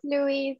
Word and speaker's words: Louise: Yeah, it's Louise actually, but it's my nickname.